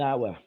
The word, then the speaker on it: hour: how no no it's the h in that example is pretty silent an hour um yeah and again want uh at the end so i i sought mail for 8.25 an hour it's almost a silent age whereas you made it a very long age but it was very